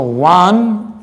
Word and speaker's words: one: So one, one. Here O is pronounced as wa. Here O is used as wa.